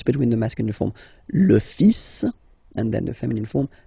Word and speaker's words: fils: Okay, so it's le, and then even if you've got this L, well, basically you don't pronounce it, and then strangely you pronounce the final S. Le fils. Le fils. Le fils. Le fils.